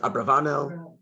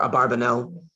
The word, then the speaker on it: Abravanel: Some people pronounce it Abravanel or Abarbanel.